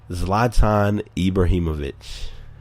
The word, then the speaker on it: Zlatan Ibrahimovic: But Zlatan Ibrahimovic. Yes, I said it just like it sounds, and that is exactly how it's pronounced and spelled.